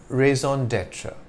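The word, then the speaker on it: raison d'être: with a longer sound so the phrase is pronounced in French though in English it's simply raise on Detra your raise on Detra is what is most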